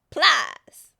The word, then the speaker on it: Plies: This is why I love Plies. He be loving on her. Who? Pliers. Plies. Plies. P-L-I-E-S. Plies. Oh, man. You don't. Is that how you pronounce it?